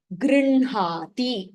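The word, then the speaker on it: गृह्णाति: Now, the only exception in pronunciation would be in type 4, where hakaraha is followed by the Anunasika aksharam. The Anunasika aksharam is pronounced first. Brahma, vanhihi, grinhati.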